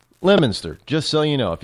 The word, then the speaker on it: Leominster: city called Leominster well it's not called Leo but it spelled that way but it's pronounced lemonster just so you know